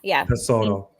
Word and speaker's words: Tesoro: Tesoro, yeah. Tesoro. Means treasure.